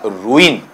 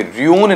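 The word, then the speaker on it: ruin: इसमें जैसे इसका उच्चारण आप लेते हैं तो इसका उच्चारण है वो इस तरीके से आएगा रुईन। ठीक है? ये ध्यान देना है इस वाले पार्ट में रून्य नहीं होता है।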